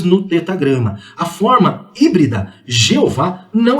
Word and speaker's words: Yahvé: Entretanto, aos poucos esse nome vem sendo substituído pela forma Yahvé ou Javé, que é a pronúncia mais próxima do original.